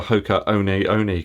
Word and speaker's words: Hoka One One: the hoka clifton seven sorry i should say the hoka one oni clifton seven gotta say it right i've gotta get it